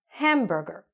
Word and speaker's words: hamburger: Hamburger. Again, hamburger. Okay, the stress is on the first part.